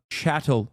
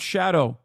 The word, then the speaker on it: chattel: the historic severity of chattel slavery. Not shadow, for the chatters who have never heard this term.